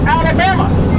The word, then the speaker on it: Alabama: The word Alabama is a Creek word pronounced Alabama, meaning warrior.